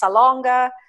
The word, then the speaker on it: Salonga: Maybe you don't know how it's pronounced. You don't even know it's Salonga, and not everybody's going to get that right.